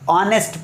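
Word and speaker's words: honest: यहाँ पर ऑनेस्ट मैन, ऑनेस्ट मैन का मतलब क्या होता है, ईमानदार आदमी, लेकिन ये एच साइलेंट है, एच को पढ़ना ही नहीं है, ऑनेस्ट पढ़ना है।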